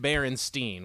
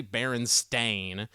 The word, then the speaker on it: Berenstain: said it growing up we said bear and Steen we did not say it any other way we didn't say Baron stain the first time I heard someone say Berenstain I thought they had gotten smacked in the head too hard like they chant though